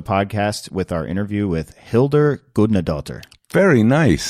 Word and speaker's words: Hildur: we're gonna talk to Hilda goodnight daughter now you butchered it that's it Hildur well I was gonna